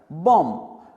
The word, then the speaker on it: bomb: बॉम्ब। इसमें हम B का प्रोनाउंसिएशन, उसका उच्चारण नहीं करते।